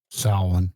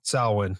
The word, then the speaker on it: Samhain: How do you pronounce it properly, JJ? Samhain? Samhain. Yep. Samhain.